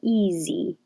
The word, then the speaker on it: easy: was just certain easily that looks like an s but sounds like a z and the same for easy easy also written like this